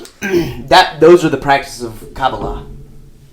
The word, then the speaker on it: Kabbalah: Kubalala. Jewish mysticism. Hey, Anyways, doesn't fucking matter. The mystics of Judaism. Those are the practices of Kabbalah. Kubalala. Is that right? No, Kabbalah.